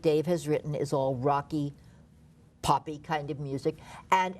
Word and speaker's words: Rach: One is rock, R-A-C-H, pronounced rock, played by Gabriel Ebert, who won his Tony in Matilda, as the father, and some other characters.